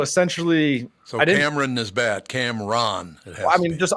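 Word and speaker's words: Cam'ron: yeah so it's uh Cameron oh Cameron officially pronounce it but yeah so essentially so Cameron is bad Camron it has I mean just I don't want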